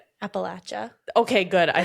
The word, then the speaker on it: Appalachia: I will say I was taught Appalachia and it's wrong. Everyone, just for the record, it is Appalachia and Appalachin Mountains.